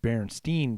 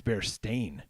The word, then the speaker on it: Berenstain: this Mandela effect is is it Berenstain or is it Berenstein burn bears Oh bears dying actually I think it's bear stain it's bear stain there's